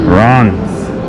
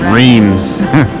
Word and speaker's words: Reims: we got our uber right here hello uh all right today new day we're heading to bronze or as you would maybe pronounce it rheems or runs very historical french city about 90 miles east